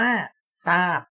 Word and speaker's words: ทราบ: แรก หนู อ่าน ออก เสียง ว่า ทราบ ใช่ ไหม เรา ออก เสียง เป็น เสียง ซ โซ่ นะ ครับ คำ ที่ 2